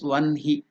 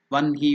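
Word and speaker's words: वह्नि: rules in Pini grammar is you have to pronounce it as one he that's why in English we have written it as one he v n hi I the pronunciation is one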